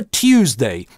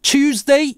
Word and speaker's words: Tuesday: Слово Tuesday 31 человек из ста произносит как Tuesday, 58% как Chewsday и 11 человек как Toosday.